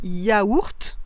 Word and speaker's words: yaourt: vais vous présenter, c'est que celui-ci a plusieurs prononciations et aussi plusieurs orthographes. C'est intéressant. C'est le mot yaourt. Alors moi je dis yaourt, c'est mon habitude de dire yaourt et de l'écrire comme ça.